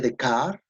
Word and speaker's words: Descartes: a un filósofo francés rené de kart se produce a décadas en francés pero se escribe rené descartes filósofo francés siglo 17